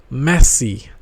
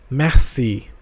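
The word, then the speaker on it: merci: next is messy messy The Voice intonation on R is really low so it is pronounced Messi Massi Massi it means thank you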